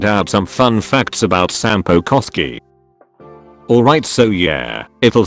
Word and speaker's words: Sampo Koski: Alright, so yeah, it'll sound weird but Sampo is Finnish. Also, I don't mean that he's from Finland, but that his name is Finnish. And yes, there is a quote-unquote right way to pronounce it, and that's Sampo Koski.